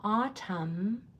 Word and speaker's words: autumn: And then look at that mn at the end. That is a silent letter pair. We have a lot of silent letter pairs in our language like gh. A silent letter pair is two letters where only one is being pronounced. So in autumn, you're only hearing the m, not the n.